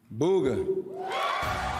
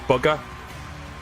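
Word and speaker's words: Bugha: And the Game Award for Best Esports Player goes to Booga. Booga. I believe it's pronounced bugger. As in you fucking bugger, but okay.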